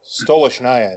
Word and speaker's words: Stolichnaya: So, I used to sell Stolichnaya is the pronunciation, but the easiest way to say anything about that brand is just call it Stoli.